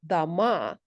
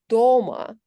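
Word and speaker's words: дома: For example, nominative plural noun houses, dama, stress on the second syllable, versus at home, doma, which is prepositional case of the same noun in singular form.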